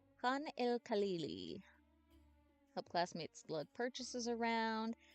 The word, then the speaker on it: Khan el Khalili: And that is how it's pronounced. Khan el Khalili.